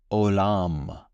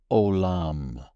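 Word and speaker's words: עולם: The pronunciation in Hebrew is olam, olam.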